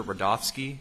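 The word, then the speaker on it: Rudofski: record special agent rodofsky that's r-u-d-o-f-s-k-i and it's pronounced Rudolph and then ski Professor agent rodolski how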